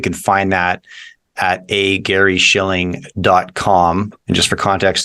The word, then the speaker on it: Shilling: and just for context there's no C in Shilling just s chill used to be about four generations ago but I had a great great grandfather who uh he said well uh you don't pronounce it and it takes extra ink to write so he so he voluntarily